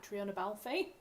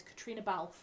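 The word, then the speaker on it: Caitríona Balfe: I have been corrected a number of times because I pronounced it Kreiona Balfy. Um I've been corrected. Her name is Katrina Balf is how you pronounce it.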